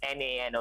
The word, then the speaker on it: Nano: I pronouncing it as Genui now and then I realized it's not now. It's Na N O.